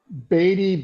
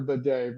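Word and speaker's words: Badie: now tells us his his name's been mispronounced like four different ways since he got to Denver you know uh batty baddy we we've said it all but he actually has now said it's actually Tyler baday but good on him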